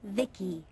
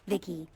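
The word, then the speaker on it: VICI: transistors by the way i'm the ici pronounced vicky my creator was vivisecto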